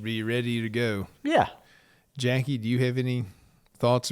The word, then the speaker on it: Jacque: She spells a long- Jackie different. Yeah. Than what a lot of Nobody people can do.